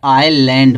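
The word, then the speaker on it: island: है एस आया है जब आई और एल के बीच एस आएगा जो य एस का उच्चारण नहीं किया जाएगा यस क्या रहेगा साइलेंट रहेगा ठीक है तो इसको हम क्या पढ़ेंगे आईलैंड पढ़ेंगे आई लैंड पढ़ा जाता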